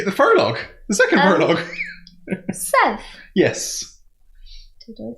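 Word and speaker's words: Szeth: so then you the furlough the second paralog seth yes did i say it right this is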